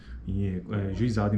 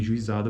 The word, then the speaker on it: juizado: Consideremos agora as transcrições possíveis para uma palavra como juizado, juizado em português. Podemos ter uma pronúncia que apresenta uma sequência de vogais, juizado. Neste caso, a palavra será pronunciada com 4 sílabas.